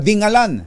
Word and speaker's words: Dingalan: e daw yan kumbachero tinanong ko yung ano ba talaga pronounce diyan sabi ko kay mayor Sherwin taay Shay si May dingalan pala dingalan dingalan dingalan si Mayor Sherwin taay